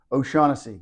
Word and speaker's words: O'Shaughnessy: you so first of all how do you pronounce the name of the winery oasi good Irish name good Irish name tell me